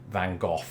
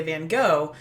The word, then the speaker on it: van Gogh: correct here so yes in Britain we say van Gogh here America growing up I was conditioned to say van Gogh but increasingly I've heard Americans say things like van Gogh or van Gogh I wonder if doctor who influenced that I've heard that the dutch is closer to that first one you said there but Val hawk